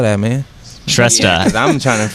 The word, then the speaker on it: Shrestha: Shresta. Yeah, 'cause I'm trying to figure out. Is he saying Shasta? Shresta. Which, if you can remember, is SHRESTHA. THA is the tricky one on that one.